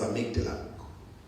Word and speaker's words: amygdala: this way to housed it is called Amity write it down and make dinner I made the life a m y the d a uh but it's pronounced as amygdala that's your people to